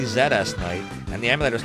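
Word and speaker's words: ZSKnight: In the interview that I will one day release, I swear it's coming of ZS Knight and myself, his name is actually Zeds Knight and the emulator is called Zest Ness.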